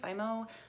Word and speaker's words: Fimo: First off is different kinds of, I think it's pronounced Fimo clay, Fimo, F-I-M-O.